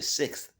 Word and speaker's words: sixth: They say it with a th on the end.